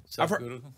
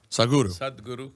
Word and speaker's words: Sadhguru: Am I pronouncing it right? Is it Sadhguru? Sadhguru. Sadhguru.